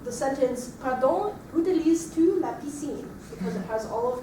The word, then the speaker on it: piscine: All right, and the last word I have here is all E sounds, piscine. Piscine. Great. All right, so we're going to build up the sentence, pardon, utilises-tu la piscine?